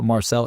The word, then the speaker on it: Marczell: So yeah, it's spelled Marczell. It's actually a Hungarian spelling. The Z is silent in Hungary. So Marczell, M-A-R-C-Z, silent Z, E-L-L.